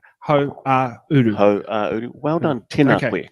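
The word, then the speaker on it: Hauāuru: Ho-a-uru. Uru is like west. Go ho and then and then uru. Ho-a-uru.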